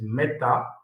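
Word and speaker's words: μεθα: The pronunciation is meta.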